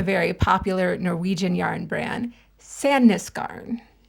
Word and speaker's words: Sandnesgarn: to, I have no fucking idea how to pronounce this. So we're starting with a very popular Norwegian yarn brand, Sandnesgarn. It's Sunscone.